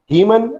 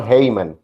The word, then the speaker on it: Haemon: Haemon और Haemon, both are pronunciation of it.